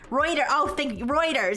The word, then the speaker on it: Reuters: But anyways, so this is a rumor from anonymous sources to routers. Now, to be fair, if it's I still don't know how to pronounce routers.